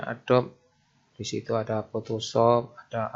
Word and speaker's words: Adobe: aplikasi itu masuk di rumpun adob ya adob Adobe tulisan nya bacanya Adobe di situ ada Photoshop